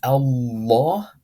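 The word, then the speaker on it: الله: Now this lam, because, or this lafzul jalala, because it's occurring at the beginning of a verse, is pronounced heavy because we're starting from the Hamzatul wasl, and this is Allah, and that is heavy.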